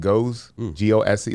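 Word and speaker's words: Gose: Go G O S E. Like the sour.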